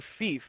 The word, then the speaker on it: fief: Fief, pronounced like thief, but with an F.